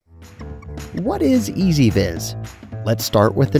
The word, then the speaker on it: EZVIZ: what is ez vis let's start with the name it's pronounced ez vis the name is important because as you'll see